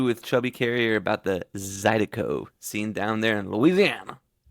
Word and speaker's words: Zydeco: we chose Cajun and Zydeco. I said it right this time, right? There you go. Yeah, yeah. It's Cajun and Zydeco. Yeah.